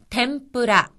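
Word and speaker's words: てんぷら: 전화란 뜻입니다 냉화 그다음은 템프라 템프라 이것은 튀김이란 뜻으로 여기서의 응이라고 하는 것은 미음으로 발음이 되어서 템프라 캠프라고 합니다 다음은 각고 각고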